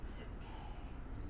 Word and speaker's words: psyche: It's onomatopoetic, psyche.